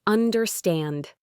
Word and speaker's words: understand: Try understand. It's understand. The stress is at the end.